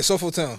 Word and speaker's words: SoulfulTone: Today I got a special guest, SoulfulTone. How's it going, bro? I'm good, bro. How you doing, man? I'm good. Is it all right? So I said it right, correct? Yeah, SoulfulTone. Okay, all right.